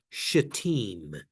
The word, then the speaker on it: Shittim: And it's Shittim, if you want to know how to pronounce it, or just say S.